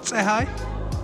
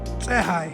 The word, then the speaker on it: Tsehai: It's called Tsehai. In Ethiopian culture, the TSE makes a T sound, so it's kind of hard to pronounce, but Tsehai is the very first aircraft made in Ethiopia.